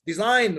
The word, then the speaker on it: design: Now, there is a case for G, okay, that it's not pronounced at all.